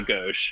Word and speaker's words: gauche: like, in their defense, So who the fuck knows what gauche means, right?